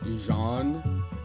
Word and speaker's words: Jean: there's a guy named Jean but it's actually pronounced Jean oh Annabelle Jean I'm just being friendly it's